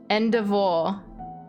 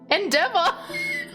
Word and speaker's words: endeavor: Endivore. Endivore. I can hear Bumfluff laughing at me. How do you pronounce or? Endivore. Endivore? Endeavor.